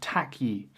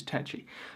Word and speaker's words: Takyi: nice to meet you tacky so apparently remember him saying that's really not how you pronounce my name man and he liked phonetically spelled out the correct pronunciation which is tetchy now he's a guy